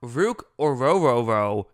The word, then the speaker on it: Ruke Orhorhoro: all right let's talk ruk oroo is I believe how you say his name I was listening to